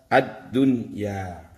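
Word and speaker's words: الدنيا: Karena ini dalam satu kalimat harus dibaca idhar, maka bacanya adalah ad-dunya.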